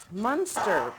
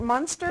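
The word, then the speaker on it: Muenster: Munster. Is it Munster or Minster? How do you say it? I say Munster. I say Munster too.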